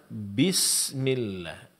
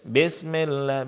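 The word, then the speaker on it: بسم الله: latih seperti dalam pengucapan bismillah. Bismillahi sering terjadi besmillah bis di sini bi barisnya kasrah akan sempurna pengucapannya ketika bibir bawah diturunkan ke bawah dan vokal suara kita bunyinya i bi bukan be bukan bismillah bismillah enggak bmillahi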